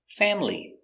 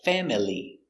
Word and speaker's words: family: conia very good example family it looks like family but we don't say family sometimes family family but usually family family this is my